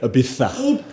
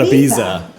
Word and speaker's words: Ibiza: You even gave it the proper pronunciation. You went Ibiza, not Ibiza. Ibiza.